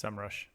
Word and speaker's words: SEMrush: It's SEMrush.